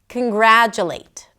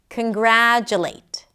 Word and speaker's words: congratulate: Congratulate. First, let's identify what the primary stress is. Congratulate, congratulate. The gra is the primary stress.